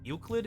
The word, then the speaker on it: Euclid: It's or the how do you pronounce that? Euclid? Euclid? It's the first one you said, Tofu.